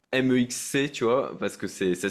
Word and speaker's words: MEXC: Donc voilà, alors tu le prononces Mex, toi, parce que je savais pas comment le prononcer, je disais MEXC, tu vois, parce que ça s'écrit comme Ouais, ça, pour ceux qui nous écoutent, ouais.